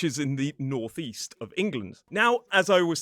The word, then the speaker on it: England: So we have England, not England. We have Scotland, not Scotland. We have Iceland, not Iceland. There's even a place in England called Sunderland, which is in the northeast of England.